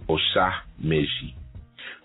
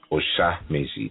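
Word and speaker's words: Osa Meji: by the sacred Odu Osha Meji. Osha Meji, that's spelled O-S-A, and you can put a hyphen, make it easy for yourself, O-S-A hyphen M-E-J-I, Osha Meji.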